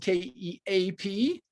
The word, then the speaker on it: Keap: Keap is spelled Keap. I like to think of it as keep everything all in one place.